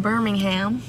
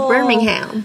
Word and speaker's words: Birmingham: it please right okay i'd like you to pronounce the g my g no we